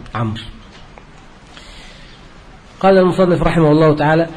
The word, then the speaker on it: عمرو: هذا يعني من الملح، والمقصود منه أن تعرف أن داود تكتب بواو مع أنها تنطق بواوين، وأن عمرا تكتب بواو مع أنه ليس فيها واو، فكأن واو داود التي انتقصت أخذها عمرو.